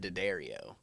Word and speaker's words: Diaddario: So my family pronounces it Diaddario.